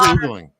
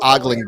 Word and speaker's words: ogling: Oh, well, what's oogling? What's There's oogling? a lot of models out there that men ogle that are married. What is oogling then? It means ogling, but mispronounced.